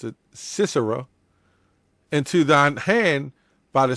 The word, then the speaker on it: Sisera: For this is the day in which the Lord have delivered Sisera, yes, that's how you pronounce it, Sisera, into thine hand.